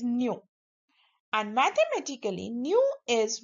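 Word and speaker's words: ν: It is denoted by the symbol pronounced as nu.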